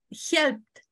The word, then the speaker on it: helped: Helped. Entonces helped. Aquí mira el sonido es la letra que está aquí, ¿ves? Entonces lo pronunciamos como si fuera una T.